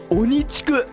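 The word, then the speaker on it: 鬼畜: Đó là ONICHIKU. Nó được viết là ma quỷ và đọc là ONICHIKU. Nó không phải là ma quỷ. Đó là ONICHIKU.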